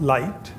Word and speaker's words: LIGTT: Institute for globally transformative Technologies pronounced light and and uh we